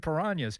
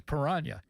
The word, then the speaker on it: Piranhas: Then Bill, you know, and Hillgrove pronounced them. I'm going like, why is he saying Piranas?